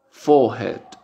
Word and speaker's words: forehead: En inglés británico no se pronuncia la R que viene después de una vocal. Entonces la vocal se hace larga. Sería forehead, forehead, forehead.